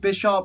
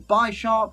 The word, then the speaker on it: Bisharp: it's pronounced bisharp or by sharp because 10 lily you could argue on my side of things that is based on the chess piece of bishop so it's Bisharp but other people would